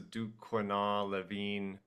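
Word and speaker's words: Duquenois-Levine: Um so they did later on test uh the oil but they used what's called I believe it's pronounced the duin leavine reagent test and this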